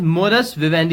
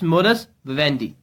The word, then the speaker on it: modus vivendi: so again it's a noun okay and the pronunciation is morris Vivendi you can just read it out here it's morris vendee and its meaning is a way of living